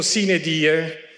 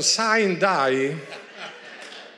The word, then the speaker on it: sine die: stato scritto il testo era stato scritto sine die che è latino e naturalmente la malcapitata giornalista ha pronunciato saint dai ecco vedo e mi